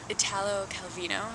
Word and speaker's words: Italo Calvino: after he was born Italo Calvino I believe is how you say his name but I'm sure there's